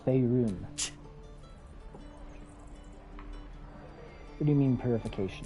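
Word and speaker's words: Faerûn: Fey run. No, it's Faerun.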